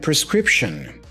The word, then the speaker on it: prescription: we have the word prescription prescription pay attention especially to the ending here the ending has awah sound uh so I say shun shun prescription prescription all right this